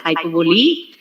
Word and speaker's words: hyperbole: me she asked me what is the pronunciation of hypovolem uh what how do you pronounce it so when i told that it was hyperbolic she told man that's hyperbole please see that you use the right pronunciation and thanks to abhinayam